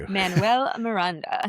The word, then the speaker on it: Lin-Manuel Miranda: Is it, I always say her name wrong. Lin-Manuel Lynn, Miranda. well, yes. Thank you. Lin-Manuel Miranda.